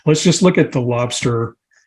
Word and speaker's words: Lobstr: just look at the lobster um screen and it's spelled l-o-b-str so if you go